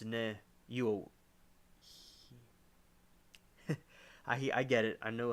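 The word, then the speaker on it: niuhi: Many Hawaiian families believe that they have an Amakua watching over them and protecting them from the Nehiuhii. Ne, it's Nehiu. I get it. I know how to pronounce it.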